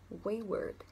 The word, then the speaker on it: wayward: cái âm đằng sau, mặc dù nó viết là chữ word, nhìn nhìn khá là giống chữ word nhưng thực tế nó đọc là âm ơ ngắn wayward.